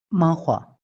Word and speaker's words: manhwa: de ahí vienen los manhwa. Sí, a ver, Duya, dinos cómo se pronuncia de manera correcta en coreano. Manhua. Manhwa, ¿no?